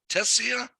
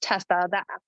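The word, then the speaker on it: Tesia: Is it pronounced? I don't know if I'm saying this right. Tessia or Tassia? T-E-S-I-A. You with us? Good morning. It's pronounced Tessa. Yep. Good morning. Can you hear me? Yes. And say it again. I'm sorry. How do you say it? Tessa. The I is silent.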